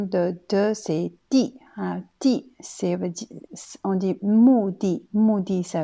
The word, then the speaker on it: 地: Ensuite, le de suivant, il y a deuxième prononciation, c'est di. Alors, di, qui veut dire un lieu ou un endroit.